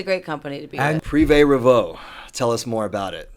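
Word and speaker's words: Privé Revaux: right yeah jamie will be pissed if i pronounced it wrong prive revo okay it's so funny because everyone's like how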